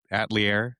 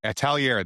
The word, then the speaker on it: Atelier: At atlier which hat Atelier? Atelier, that's right. That's how you say it.